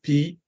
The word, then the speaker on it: phthalates: And you may not know how to pronounce that word, but it is spelled PHTHALATES. And it's pronounced phthalates.